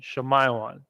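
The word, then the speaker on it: שמעון: so those two rejoined these two are joined shamayawan zebulun zabalawan from guatemata Panama okay zabalawan and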